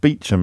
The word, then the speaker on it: Beauchamp: The only one I can ever remember is Beecham, where it's spelt Beauchamp, but pronounced Beecham, and you do it.